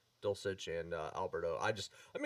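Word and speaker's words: Dulcich: i'm excited for dolce dolcich is how you pronounce his last name dulcetch and alberto i just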